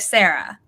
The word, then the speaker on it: Sara: it was pronounced like Sarah so I'm gonna say that and if I'm wrong correctly but I think I remember you telling her it's pronounced like Sarah rather than Zarah so that's such a